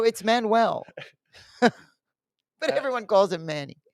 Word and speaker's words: Manuel: Um, it's very but anyway, so it's Manuel is how you say it.